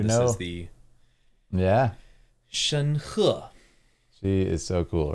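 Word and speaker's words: 申鹤: Shen He.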